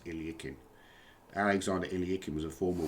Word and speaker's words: Alekhine: But it's generally called the Alakines or the I think the correct pronunciation of Alak Alexander Alakine's name is Ilikin.